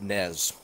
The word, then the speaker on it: Ynez: I like it why the Y is silent it's Nez Wow Seneca never doubt my